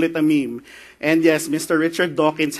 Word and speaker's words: meme: So he just said, well, I want it to rhyme with gene, and the Greek word mimeme actually means to imitate or to borrow. So he thought, I'm going to call it a meme.